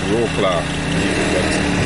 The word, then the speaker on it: Wrocław: In English, it's pronounced Wroclaw. In Polish, it's Wrocław.